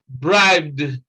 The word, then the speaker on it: bribed: number five is bride bribed the sound here is the sound of d not t and not eid again in num in number